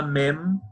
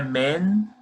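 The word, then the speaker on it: מם: relação a essa letra, quando a gente pronuncia ela no final de uma palavra, é que a gente sempre tem que fechar a boca. Então, por exemplo, mem, mem, não é men e nem men, é mem.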